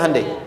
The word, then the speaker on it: Hyundai: Hyundai kan dibacanya Hyundai.